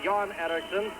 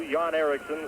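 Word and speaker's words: Erixon: k SS o n but uh pronounced exactly the same two yon ericon of Team Sweden there's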